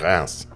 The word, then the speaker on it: Reims: It's that It's that R way back in there.